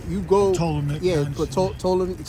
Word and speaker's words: Ptolemy: Yeah, but Ptolemy, it's like Ptolemy. That's niggas say pronounce the P.